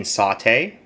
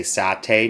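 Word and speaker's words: satay: did make Sates um he's saying sauté um and maybe that is how you say it there I know over here we'll say saté not to confuse it with the cooking method of sauté or to jump in a pan so Sates or saes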